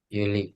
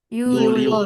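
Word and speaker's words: يوليو: Yuli. Yuliu. Nah, bilangnya Juli apa Yuliu? Yuliu. Baik.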